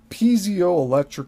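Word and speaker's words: piezoelectric: Pio electric effect. So this this word is spelled P I E Z O dash electric.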